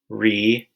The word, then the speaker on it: remote: The first syllable, re, is open, which means the vowel sound is long. And the second syllable, mote, it has the O consonant E spelling, which makes for a long O sound.